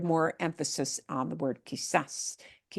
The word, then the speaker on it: quizás: And notice we've got that word quizás, ends in an S, but the way we pronounce the word violates that rule of ends in an S.